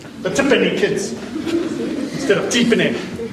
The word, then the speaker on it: Tipene: those days just said tipy the tipy kids instead of deep in in I didn't even know it was supposed to be pronounced deep in in a lady from Telecom